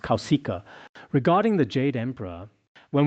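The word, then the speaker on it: Kauśika: In Sanskrit, it should be pronounced Kausika.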